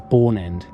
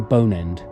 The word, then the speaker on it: Bourne End: 19th century however that the name had been corrupted to bone end apparently through local mispronunciation and thence on official maps and documents in 1858 the vicar of wubin succeeded in reversing the change and the corrected name remains in use today the length of the